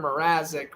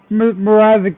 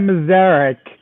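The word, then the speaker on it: Mrázek: he said Mrazek wrong. He said Mazarek.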